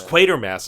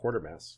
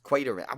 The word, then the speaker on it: Quatermass: But it's Quatermass. It's not Quartermass. Quatermass.